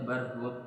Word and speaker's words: Barhut: Kalau sini bacanya Barhut pakai ta.